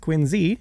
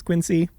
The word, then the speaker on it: Quincy: In 1946, he founded Industrial Lunch and Services in Quinsey, Massachusetts, which yes, is pronounced Quinsey. Everyone says Quincy.